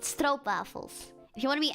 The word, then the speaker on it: stroopwafel: If there is like double o in the Netherlands in Dutch, it's o, not oo, like in English.